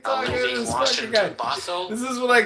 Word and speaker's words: Bothell: Bothell, yeah.